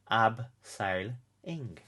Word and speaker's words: abseiling: with the aardvark actually tell you how to pronounce abseiling AB sale ing lovely so wow the